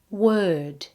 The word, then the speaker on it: word: Okay, so bird and word rhyme. Try them now. Bird. Word.